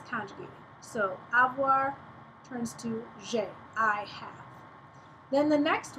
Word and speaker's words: j'ai: You pronounce it j'ai.